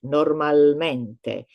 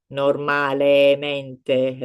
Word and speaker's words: normalmente: So as I said, it just flows better when you are pronouncing it, when you are saying it normalmente, regolarmente, instead of normalemente, regolaremente. It kind of clashes a little bit.